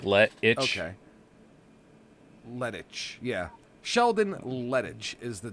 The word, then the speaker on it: Lettich: Lettich? Lettich? Lettich? Lettich? Like lettuce? Yeah, sort of. Lettich. Like Lettich. Okay. Lettich, yeah.